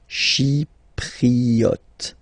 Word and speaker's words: Chypriote: Remember this Y is pronounced like I. Okay. Chypriote.